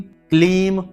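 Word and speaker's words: क्लीं: यहां पर ह्लीम है, ह्रीम नहीं, ह्लीम, ह्लीम, ह्लीम, श्रीम, क्लीम, यहां पर क्रीम नहीं, बहुत से लोग क्रीम कहते हैं, क्रीम नहीं, क्लीम नमः।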